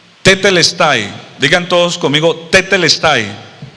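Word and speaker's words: τετέλεσται: consumado es en el en el griego se pronuncia tetel Style digan todos conmigo o sea Jesús en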